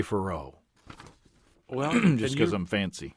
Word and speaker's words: Faurot: Farot? Yeah. I would say Farot.